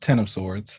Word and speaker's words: X of Swords: is it x of sorts so it's it's pronounced ten of swords um it is because teenie said that you